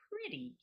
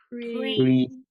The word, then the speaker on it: pretty: Make it almost a d sound.